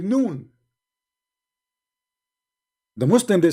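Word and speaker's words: ن: You see, in Arabic, when we pronounce a letter by itself, we pronounce it as if it's a word, but it's not a word.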